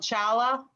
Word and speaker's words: challah: yeah yeah of the heart yeah it's actually pronounced holla we would pronounce they pronounce it hala it's spelled chala but it's print if it's